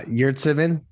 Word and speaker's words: Yurtseven: uh our friend uh omar i guess it's omer you're you're pronounce it for me greg sorry uh yertsevin thank you much better than i did uh has signed with